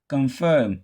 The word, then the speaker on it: confirm: We are pronouncing it as long because the word is a verb and we are not stressing the first syllable, so we are stressing the second.